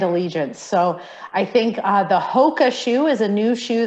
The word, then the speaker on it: Hoka: So I think the Hoka shoe is a new shoe that's been on the market now for a few years.